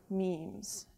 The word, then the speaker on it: memes: Memetics is about memes, and it's spelled M-E-M-E, and it rhymes with gene on purpose because it's an idea